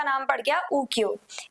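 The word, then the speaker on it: 浮世絵: को लेकर के जिन्हें उकियो के नाम से जाना जाता था और स्पेशली इन्हें प्रॉपर्ली अगर प्रोनाउंस किया जाए तो उकियो एए के नाम से जाना जाता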